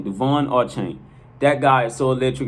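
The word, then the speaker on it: De'Von Achane: che is pronounced de devon our chain so once again okay i'll clear it up his name is pronounced devon duvonne archang all right once again devon or chain that guy is so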